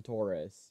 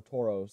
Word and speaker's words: Tauros: our verse Hollow is this awesome Taurus or Tauros or however you want to pronounce it freaking great and next